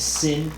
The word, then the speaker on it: Cinn: Sin? Yep. Wong. How do you pronounce it? Wom. I pronounce Lightsaber it sound. Sin.